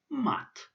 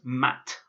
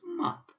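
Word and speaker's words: мать: So this word is pronounced mat. It's not pronounced mat. It's got a soft sign, so it's mat. So mat, the soft T at the end, mat.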